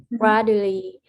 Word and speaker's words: gradually: Tại vì con thấy là khi mà con gặp cái chữ D á, mà nó đứng cái chữ U thì con sẽ đọc cái âm đó là âm chờ nha.